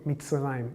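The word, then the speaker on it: מצרים: Mitzrayim.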